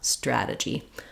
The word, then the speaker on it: strategy: But for a non-native speaker, I would definitely recommend trying to just do T and tra, stra, stra-gy, and stra-TEE-gic rather than using a CH sound there.